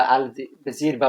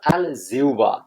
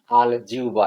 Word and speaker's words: আলজিহ্বা: প্রথমে আমি যে কথাটা বলেনি অনেকে কিন্তু আলজিবা আলজিরবা বলে কিন্তু এগুলো সঠিক উচ্চারণ না। সঠিক উচ্চারণ হল আলজিবা। যেমন সঠিক উচ্চারণ অনেক ক্ষেত্রে আমরা বলি আহবান কিন্তু আহবান আহবান। আহবান আল জিউবা এগুলো সঠিক উচ্চারণ।